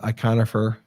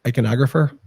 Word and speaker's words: iconographer: uh he's an orthodox iconifer uh and he's he's solid I love that guy and I how do you say iconographer iconographer yep now you've done a